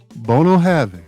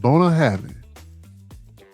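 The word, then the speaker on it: Bunnahabhain: Bono Having. That's how you pronounce it.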